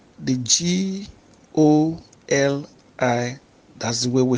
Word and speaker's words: goli: It's also G-O-L-I. But this one is pronounced goli. Goli.